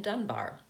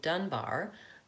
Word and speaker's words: Dunbar: Dunbar. Then I give my first and last name. Notice the second time I said that, Dunbar, the stress was on the first syllable of my last name.